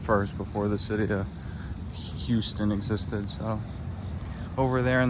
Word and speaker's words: Houston: This is Houston Street. They call it Houston instead of Houston, even though it's spelled like Houston as in Houston, Texas.